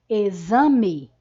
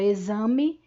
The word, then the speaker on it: exame: uma mudança na escrita a palavra exame é escrita com a letra x mas na nossa pronúncia e este x tem o som do fonema z então nós representamos os